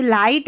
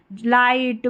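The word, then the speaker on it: light: लाइट, माइट, राइट इन सभी spelling में जी एच रहता है। वह साइलेंट रहता है।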